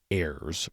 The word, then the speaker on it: AIRSS: intelligence risk scoring system airs pronounced like the plural of air and in part one